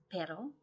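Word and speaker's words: perro: a dog in Spanish which is pedal um and you do need to kind of roll the r otherwise it's the word but as in everything but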